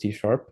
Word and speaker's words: C#: called C that's this C hashtag here it's pronounced TP that's the language we're going to be using